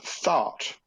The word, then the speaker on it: Thoth: bird his name is Thoth now here's the interesting thing about toads his name is pronounced thought like you know begone salt kind of thing but what happened a